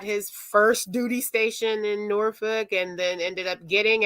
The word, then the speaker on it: Norfolk: is it's you know ing that you don't pronounce the Ellen Norfolk it's um because that will make you know